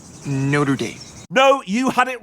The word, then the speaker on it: Notre Dame: thinking of going to college I was thinking Notre Dame you mean Notre Dame Notre Dame no you had it right first time they're